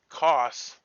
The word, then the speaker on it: Koss: What it was Koss was the demon, but it rhymes with Ross, and so I heard it wrong.